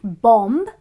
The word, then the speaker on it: bomb: b which is not bomb it is bomb similarly T hu m